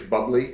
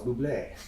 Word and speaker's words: Bublé: He's in a supermarket and keeps saying they're saying the name wrong. So the drink is bubbly. Yeah. Yeah. And he's like, no, it's Bublé.